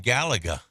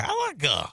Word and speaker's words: Galaga: On a question of the day, Jeff from the Patch says, how about the game Galaga?